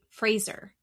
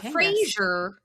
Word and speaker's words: Fraser: Barbie did, on her season, she was with, I want to say it right, Fraser. Not Frasier.